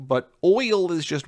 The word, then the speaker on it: Oyl: That's an example of the Y as a vowel, and so her oil would definitely, in my opinion, be one syllable.